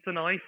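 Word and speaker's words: Sanayei: Sanye? Darian Sanai, 4 seconds a lap faster.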